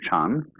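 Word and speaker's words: 禪: So then, this word Zen is Japanese way of pronouncing the Chinese word Chan, which in turn is the Chinese way of pronouncing the Sanskrit word jhana.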